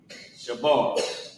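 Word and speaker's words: שבר: So, Sha character Ba and the character Ra connect Shabar. Right. What's going on with my handwriting today? Shabar. And how you pronounce it is sha and then b a r o shab.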